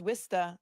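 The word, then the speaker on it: Worcester: is it gluster because I know it's wsta I know it's quinsey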